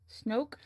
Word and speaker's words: Snoke: Rhymes with smoke. Snoke?